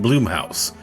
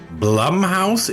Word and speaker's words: Blumhouse: What do you mean Bloomhouse? Don't you mean Blumhouse? It is pronounced blum house.